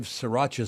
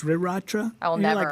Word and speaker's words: Sriracha: go uh it's Sriracha ah stop it with the R I hate that yeah this builds but yeah but this one is like s-i-r-a-c-h-a yeah Sriracha yeah Sriracha you're right the other one is spelled s-r-i-r dumb we're calling it sriracha and everyone knows Frank's